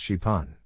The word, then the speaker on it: Xpeng: that can fly the company calls it Spang pronounced shipon the vehicle can fly